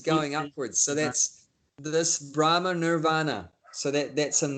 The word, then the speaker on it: brahma: mix it up with brahma the first person in the universe first living being his name is brahma that's a long a brahma brahma that's a long a at the end this is brahma so